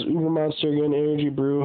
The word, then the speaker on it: Ubermonster: Right here it says how to pronounce ubermonster. If you can read it. Well, you can't. Pronounce O-O minus B-E-R. Ubermonster.